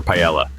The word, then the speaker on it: paella: Yes, Spain is famous for paella, pronounced pa.